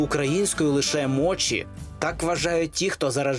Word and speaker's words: мочі: є лише чі тому мочі людина яка полюбила мочі найбільше з усіх смаколиків і зробила їх приготування своїм бізнесом поки що називає їх Моті Можливо вона видше перейде на правильнішу вимову бо росіяни її ледь